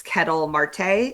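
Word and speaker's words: Ketel Marte: Unless you want me to say anything else about I mean I just want to say one thing about this Kettle Marte. Is that how you pronounce his name?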